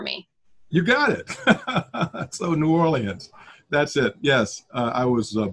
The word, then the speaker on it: New Orleans: as a kid, and if you can properly pronounce New Orleans for me. You got it. So New Orleans, that's it.